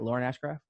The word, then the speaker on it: Lauren Ashcraft: Am I pronouncing that right? Lauren Ashcraft?